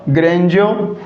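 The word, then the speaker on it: grandeur: ग्रैंडियर ये क्या होता है साथियों, इसका करेक्ट प्रोनाउंसिएशन क्या होगा, ग्रेंजो या मैजेस्टिक नेचर।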